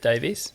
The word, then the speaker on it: Davies: I'd also like to say I found that incredibly offensive, because Gareth's Welsh and I'm Welsh as well, Eugene, and we pronounce it Davies.